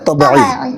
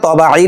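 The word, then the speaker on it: طَبِيعِي: আলিফ টানতে হবে মাদ্দে তবই বাংলায় অনেক বইতে তবাই লেখে কিন্তু তবাই শব্দটা শুদ্ধ না তবাই হুন তবই বলতে হবে মাদ্দে তবই আবার অনেক জায়গায়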